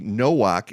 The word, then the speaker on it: Nowak: Nowak. He spells it the same way as I do, but he pronounces it with a W, Nowak, and no relation.